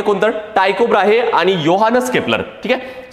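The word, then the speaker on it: Johannes: ते कोणतं टायकोब्राहे आणि योहानस केप्लर ठीक आहे स्पेलिंग जरी जोहानस असलं तरी पण त्याचं प्रोनाउन्सिएशन योहानस केप्लर आहे ठीक आहे तर योहानस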